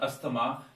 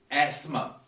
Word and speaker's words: asthma: some people say asthma we write in hindi also asthama it is not asthama it is asthma asthma so this is a